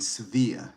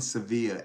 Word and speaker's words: Sevilla: and they live in Sevilla. Did I pronounce that correctly? Correct. Hey, and they live in Sevilla, and he talked about um, the acceptance and the comfort and the safety.